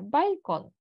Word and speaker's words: Balkon: Читається воно майже так само, як в українській, тільки L м'яке. Балькон.